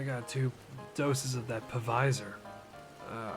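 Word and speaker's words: Pfizer: two doses of that pavisor uh i think that's how you pronounce it the p-f-i-z-e-r alexander graham bell didn't invent the name phone for us to not say that p behind anything anyways did i tell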